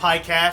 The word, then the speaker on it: Piecast: That's not how my name is pronounced. Pie Pod, not P. It's the Piecast, it's like Korean, Chinese, Japanese Piecast, pie. It's Piecast. P-I-E, but without the E.